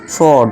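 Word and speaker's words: sword: इसी तरह देखिए देखो एस के बाद क्या है? डब्ल्यू है। तो इसे क्या पढ़ेंगे हम? सॉड। ठीक है दोस्तों?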